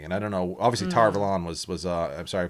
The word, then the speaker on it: Tar Valon: right nice okay so i spent my whole life saying tar velon because it's supposed to be avalon like from king arthur no no no no